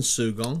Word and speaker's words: Sugong: evening U first of all is that correct pronunciation sugong that is correct yeah okay just explain to